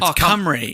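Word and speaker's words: Cymru: So they their word is it's spelled like c y m. It's it's camry.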